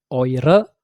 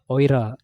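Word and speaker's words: ihre: Kalau dia feminin, feminin atau plural dia er er-nya itu dibalik jadi re. Maka di feminim di feminin oire, di plural juga oire.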